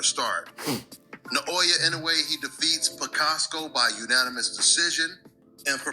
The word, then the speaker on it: Picasso: It should not be that hard to say David Picasso. It's not Picasso or any of this other stuff. It's David Picasso.